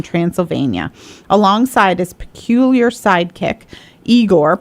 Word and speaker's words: Igor: alongside his peculiar sidekick eigor pronounced igore my favorite one yeah